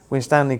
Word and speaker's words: Winstanley: You went to Shvington High School and is it pronounced Winstanley College? Yes. Winstanley College before studying at Lancaster University where you got a first class honors in biochemistry and biio medicine.